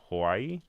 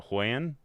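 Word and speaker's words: Huion: an announcement from um Hawaii. Is that how you say it? Uh no, Hoyen. H UI N.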